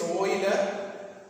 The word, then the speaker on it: Euler: Its pronunciation is Euler.